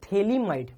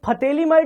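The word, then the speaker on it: phthalimide: होती है प से इसको फली माइड नहीं बोलते देखो सुनने में लेगा कि पी एच टी एच देखो स्पेलिंग देखो आप ऐसे लग रहा फली माइड है क्या है यह फली माइड य फते माइड नहीं है पी एच साइलेंट है यह क्या है साइलेंट इसको हम थैली माइड बोलते हैं क्या बोलते हैं थैली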